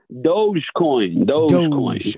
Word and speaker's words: Dogecoin: Do you say Dogecoin? Am I saying it right? Dogecoin.